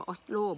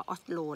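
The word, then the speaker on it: Oslo: นะ จ๊ะ แล้ว แต่ บาง คน มัน ก็ ไม่ ออก เสียง ออสโล บาง คน ก็ บอก ว่า อ๊อด โล แล้ว แต่ นะ จ๊ะ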